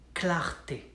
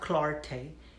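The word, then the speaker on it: clarté: a tough word clarity in french it sounds like clarti not clarte clarti clara de clarte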